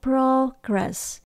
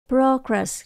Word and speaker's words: progress: about their Child progress từ progress chúng ta nhấn đầu tiên progress progress là tiến bộ hoặc